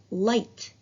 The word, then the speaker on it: light: and when i said light can you hear the g and h sounds distinctively no you can't because the gh in this word is silent i'll give you another